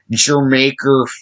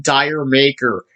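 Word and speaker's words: D'yer Mak'er: I've seen a lot of YouTubers pronounce it Dire Maker, or something like that, or Deer Maker, Jermaker, the country Jamaica. It's a play on word.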